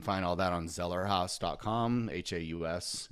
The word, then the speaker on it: Haus: Haus is how you say that.